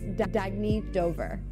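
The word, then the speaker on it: Dagne Dover: Oh, it's pronounced Dagny Dover.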